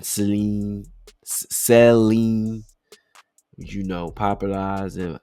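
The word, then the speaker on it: Celine: It's almost like saline. Like solution for your eye. Nah, but it's it's more like Seline. Seline. Seline. And she want that Seline. Common misprononunciation. Seal line.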